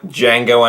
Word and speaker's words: Django: The D is silent. If you remember that line, you might remember Quentin Tarantino's film Django Unchained. Now, this top list wouldn't